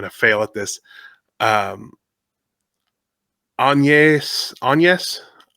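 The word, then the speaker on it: Agnès: Um, anes. It's not Agnes.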